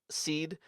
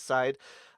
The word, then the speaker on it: Syde: Impside renamed, or Impseed renamed to just Seed, which is spelled SYDE, which still I think is problematic because Yes. I think half the world is going to read that as side.